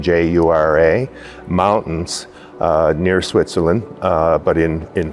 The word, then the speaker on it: Jura: They sailed on the SS Southland to Britain, and they were deployed to the Jura, I believe that's the correct pronunciation, Jura, mountains near Switzerland, but in France.